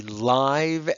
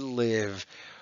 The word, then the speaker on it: live: oh wait a minute oh this one can be live and live what does this remind